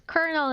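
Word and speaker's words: colonel: is a tricky word it is pronounced as kernel in English all right right right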